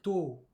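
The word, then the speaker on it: 十: Et 10, on va simplement dire to.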